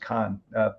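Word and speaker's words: Cannes: uh it's spelled cnes like canes but it's pronounced Khan film festival so yeah yeah that's where I'm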